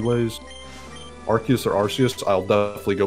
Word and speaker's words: Arceus: Well, because his name is a combination of Archangel and Deus.